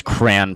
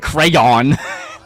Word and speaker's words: cran: Ooh, somebody in the chat says cran pronunciation. Well, I just said it. Cran. Like cranberry. But I know like crayon. That's too hard, man. Cran. It's like a crown you put on your head.